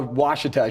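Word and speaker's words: Ouachita: school because of course it's pronounced or spelled out like oh you ACH ITA not how Washita should be pronounced but that that's the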